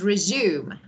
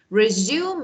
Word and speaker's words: resume: So resume and resume, spelling the same, pronunciation as a verb and noun different.